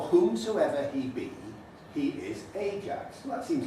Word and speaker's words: Ajax: when you realize that the elizabethan pronunciation of ajax was the jake's stress there the jakes usually then something